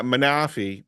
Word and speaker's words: Manaphy: I would say the right way to say it. Not manafi. No, it's manaf.